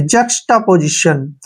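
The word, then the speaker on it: juxtaposition: देखिए जे यू का उच्चारण जो है हम ज करते हैं, ज, और एक्स को हम क और श के रूप में पढ़ते हैं। टी ए को हम टा पढ़ेंगे, टा, ऐसे जक्स्टा, क्या हो गया जक्स्टा। पी ओ का उच्चारण पौ करेंगे, ऐसे पौ, और एस आई को हम जय पढ़ते हैं अक्सर, ठीक है, और टी आई ओ एन को शन पढ़ते हैं। पोजीशन, देखिए जक्स्टा पोजीशन, जक्स्टा पोजीशन होता है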